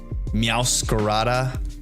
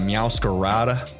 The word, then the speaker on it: Meowscarada: Having the dark fire incineroar, dark grass, or fire dark, grass dark, meowscarada, as I would try to properly pronounce it, instead of meowscarada. the gringo way.